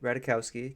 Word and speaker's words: Ratajkowski: the J is silent, but Radikowski, keep going. Ratajkowski.